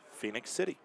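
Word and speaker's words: Phenix City: Apparently, it is pronounced Phoenix, so it is Phoenix City.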